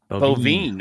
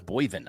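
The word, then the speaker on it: Boivin: I thought it was Boyvin. I've always said Boyvin. He's phonetically, you're correct. Okay. But then and I've been calling him Boyvin for 3.5 years until I went to SCN and heard it pronounced properly.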